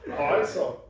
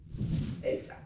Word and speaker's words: Heisa: You're supposed to pronounce it in a more Icelandic way. Like, yeah, that's true. Where Sigur Rós and Björk is from, they would say, Heisa.